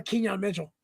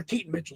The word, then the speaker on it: Keaton Mitchell: Or Kenyon Mitchell. Yeah. Or Keaton Mitchell. Sorry, that's the correct way to pronounce it.